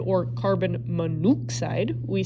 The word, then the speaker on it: monoxide: If the prefix has more than one syllable, you're going to drop the last vowel if the second element is oxygen. What do I mean by that? Okay, carbon monoxide. We do not say carbon mono oxide or carbon monoxide.